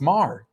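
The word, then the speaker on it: Mr. Mayor: No, it's Mar.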